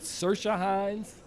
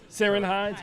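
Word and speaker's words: Ciarán Hinds: seen it uh hot is it sirsha hines am i pronouncing that correctly seren hines i'm sorry thank you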